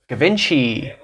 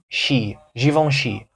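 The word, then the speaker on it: Givenchy: don't recognize the name based on the French pronunciation because in English in America we say gavinci and I know when I saw this before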